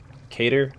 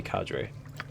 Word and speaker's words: cadre: fed on the mall I've heard it pronounced both ways I've always thought it was a cater but could be cadre a by chance a